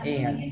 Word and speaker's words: air: Jadi udara itu dibacanya air, ya, air seperti e.